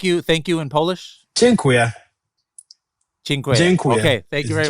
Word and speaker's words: Dziękuję: Dziękuję. Dziękuję. Okay, thank you very much. Dziękuję.